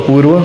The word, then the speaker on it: अपूर्वा: अपूर्व अपूर्व sorry अपूर्व नॉट पहले sorry पहला pronunciation was right. अपूर्वा। Yes. Then why इट is written अपूर्व over here? No. यहाँ पे एक की कमी है।